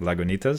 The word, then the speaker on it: Lagunitas: I was worried that the G was silent, like Spanish. Right. Lagunitas, but it's not. Lagunitas, so be it.